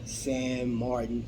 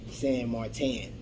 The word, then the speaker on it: San Martin: guys don't know already we're talking about Sam Martin or Sam Martin I've heard it pronounced both ways on YouTube there have been